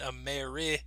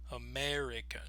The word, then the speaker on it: American: word now once again some people might pronounce the e in American like African but some people might also use the schwa listen to the difference first let's use the sound American American now let's try it